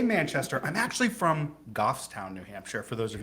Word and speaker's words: Goffstown: ra being raised in new hampshire what's it pronounced the right word gough goffstown goffstown so is that a farm town is it